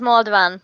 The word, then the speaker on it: Malden: your last name sorry it's pronounced Malden but I don't know if you can get the AA sound so okay so we